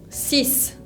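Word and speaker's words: six: se dice zhang jianqi el 6 se dice cis sis tiene una equis final que vimos antes que no se pronunciaba pero obviamente ese es un caso particular un caso especial que si se pronuncia y además se pronuncia como si fuera una s si se tiene que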